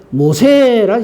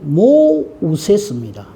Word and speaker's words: 모세: 밑에 내려가면 건져냄인데, 사실 이게 애굽 이름으로는 모우세스입니다. 모라는 말은 물이고 우세스가 건진다는 뜻이었어요. 그래서 사실은 모우세스예요. 이 애굽의 발음인데 히브리 말로는 그냥 말 그대로 모세, 건져낸다 이런 뜻입니다.